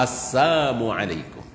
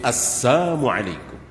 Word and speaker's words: assalamualaikum: As a Asalamualaikum. Bukan asalamualaikum tapi assalamualaikum. Kalau assalam kan salam. Ini asal artinya apa? Celaka, mati, binasa, celaka bagimu.